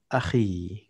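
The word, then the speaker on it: أخي: Nah, ya yang di sini beda dengan yang tadi. Kalau yang tadi itu ya-nya itu ditasdid, ya. Kalau yang ini ya-nya disukun. Cara bacanya juga beda, kedengarannya juga beda kan? Kalau tadi kan misalnya Pakistani gitu. Kalau di ini kedengarannya beda. Akhi gitu. Ya. Jadi ya-nya beda.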